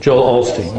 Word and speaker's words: Joel Osteen: Joel Osteen, yes.